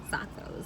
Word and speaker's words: Xaco: We are here at Zakho Taco. People are like, how do you say Zakho? Like, people don't know how to say Zakho. It's like taco. I called it Akko Taco. Did you really? Zakho Taco.